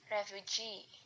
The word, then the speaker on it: refugee: Example, refuge plus suffix e menjadi refugee. Primary stressnya itu ada di G dan secondary stressnya itu ada di refugee.